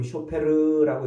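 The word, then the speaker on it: שופר: 이건 쇼페르라고 이렇게 발음하는데 요 나팔은 전쟁할 때 써요.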